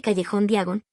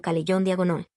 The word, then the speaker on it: callejón Diagon: Al lanzarse a las llamas, pronuncia mal su destino. En lugar de callejón Diagon, dice algo que suena más bien como Calellón Diagonol.